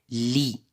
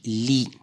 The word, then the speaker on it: lit: on va commencer par la première image lit et on a écrit l i t à la fin nous prononce ne se prononce pas dans la deuxième image